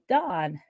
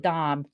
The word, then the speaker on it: Dom: so without further Ado here is dawn oh not dawn but Dom Jesus he's your savior